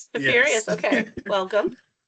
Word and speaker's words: Tiberius: I'm going to try to pronounce it Tiberius. Tiberius. Yes. Tiberius, okay.